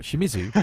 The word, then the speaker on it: Shimizu: it hideously wrong what Shimizu yes that's really not a hard knot in it it's pronounced exactly as it's spelled don't get me wrong